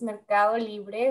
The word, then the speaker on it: Mercado Libre: joining us today oh thank you rashmi you pronounce it well it's mercado libre which is it's perfect so of course no